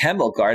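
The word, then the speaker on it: Hjelmgaard: h-j-e-l-m-g-a-a-r-d i think it's hemoguard i think the j is silent forgive me if i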